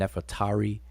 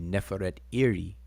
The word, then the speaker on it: Nefertari: how we pronounce it just like we say nefertiti and nefatari but that's really a conventional way we say but if you break the the name downs it would be neferet iri which is nefertari in